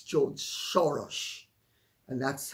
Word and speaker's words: Soros: Some people would say it's George Soros, and that's how the name is pronounced. It's not Soros. S-O in Hungarian is S-H-O. And O-S is O-S-H, like Miloš Forman or Miloš Banfi.